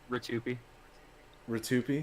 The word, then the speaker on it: Rtyuiope: did mm-hmm how do you say your name Ritu p2p yeah okay okay you know what I had